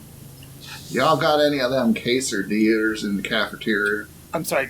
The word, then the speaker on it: quesadilla: I'm sorry, quesadillas. I personally prefer some fajitas. I've been calling them cheesy dillers for a while now. Like that's my intentionally wrong way to say quesadilla.